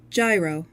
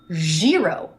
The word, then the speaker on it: gyro: Gyro or gyro. Merriam-Webster says gyro or gyro. Gyr. Gyro. Macmillan says gyro. Gyro. I'm going to keep saying gyro.